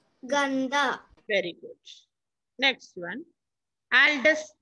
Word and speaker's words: गंदा: उदय अस्तमय हल्का बारी साफ जदना Saf. Gantha. जंदा No, ga. गंदा Ga, na, half, da. Ganda.